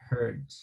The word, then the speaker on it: hurt: La J es un poquito fuerte más, mientras que la H en inglés es aspirada.